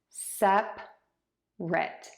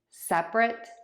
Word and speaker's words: separate: Sep-rit, separate, separate, separate. Now for the verb, we have 3 syllables.